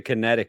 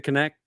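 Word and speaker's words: Kinect: with the with the kinetic sensor which I have connect how do you say it connect conect yeah connect I said kinetic this is definitely GameStop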